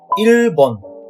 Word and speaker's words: 일본: It would be E plus L plus 보 plus N. 일본. Now let's move on to the next one.